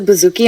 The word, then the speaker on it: bouzouki: is it what does it mean no you pronounced it great um it's a Bouzouki and it's a type of uh mandolin like